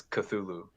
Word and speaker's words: Cthulhu: The colloquial one that's pretty much most people say is Cthulhu.